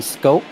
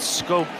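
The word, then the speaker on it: Schoop: But Scope, you know, coming out of the Netherlands, Europeans obviously pronouncing things differently than you would expect here in the United States.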